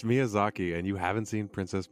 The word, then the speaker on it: Miyazaki: get yed that for Mis pronouncing myazaki so maybe it's Miyazaki I apologize wait you guys it's Miyazaki and you haven't seen